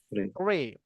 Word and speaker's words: three: Nah, ujung lidahnya digigit. Jadi cara bacanya adalah three. Teman-teman, ujung lidahnya keluar, digigit ujung lidahnya keluar, terus udara dikeluarkan. Kayak teman-teman mau mendesis gitu ya.